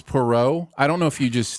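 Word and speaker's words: Poirot: flying at you which has nothing compared it's Perot I don't know if you just I don't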